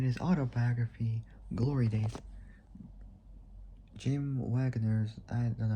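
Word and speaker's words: Wangers: autobiography, Glory Day, Jim Wagner's I don't know how to prop probably is spelled W A N G E R S. It's like saying Rangers, but taking out the R putting W.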